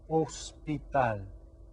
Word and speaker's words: hospital: y mano e ho the age here is silent so it's el hospital okay team one your